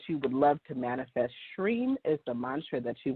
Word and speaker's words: Shreem: And I'm going to do the Shreem mantra. So it's spelled S-H-R-E-E-M, or sometimes it's with an I, just I-M.